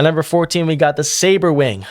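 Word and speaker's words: Sabrewing: Finally, I say it correctly. I used to call it the subruuing because I think also my cousin Aaron pronounced it that way. But it's called the saber wing.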